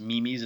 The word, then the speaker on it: Mimis: Like there's the I think it's pronounced Mimis in Australia, m i m i s.